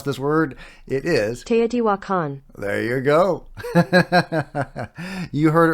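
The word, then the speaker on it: Teotihuacan: Ino actually I Googled it I'm not gonna mispronounce this word it is TE wakan there you go you heard it right from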